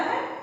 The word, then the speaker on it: who: अच्छा दोस्तों, एक चीज इसमें बताना है, एक वर्ड लास्ट होता है WHO, मैंने लिखा है यहाँ WHO, ये व का उच्चारण ना करना, नहीं करता है ये, हु बोलते हैं इसे।